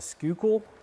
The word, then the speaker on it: Schuylkill: Going to ride with him down the, I'm going to mispronounce it, the Schuylkill. You people don't know how to pronounce things. But the Schuylkill River, I guess, is how that's pronounced.